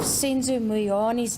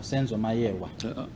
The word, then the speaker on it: Meyiwa: His answer to the question, the police called me and asked me if I know of Senzo Meyiwa's death.